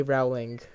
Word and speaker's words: Rowling: How to pronounce her name? Rowling. It's Rowling, BB.